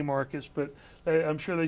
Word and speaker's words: Marques: So if any of you viewers are watching how you say his name is Rhett Marques by Alabama and the Wiregrass standards, it's Marcus.